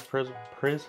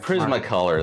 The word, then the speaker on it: Prismacolor: these uh prism colors pres how do you pronounce that prismacolor prismacolor there you go markers I usually use